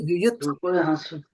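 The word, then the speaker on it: युयुत्सवः: So here you don't see, there is just a T. There's no A after it. That's why yuyutsavaḥ. Yeah, so we have not, we are here not saying Gītā, right? But here we are saying dharma because the A is there. So you have to be cognizant of the A.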